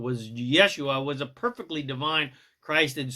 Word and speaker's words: Yeshua: The truth is Jesus, whose correctly pronounced name was Yeshua, was a perfectly divine, Christed source master of pure unconditional love, just like all the rest of us.